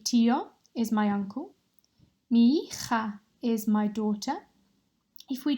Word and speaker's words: hija: Mi hija is my daughter. If we just practice saying that one together, remembering that the H is silent. Hija.